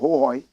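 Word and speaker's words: Hohoe: They say the correct pronunciation is Hohoi.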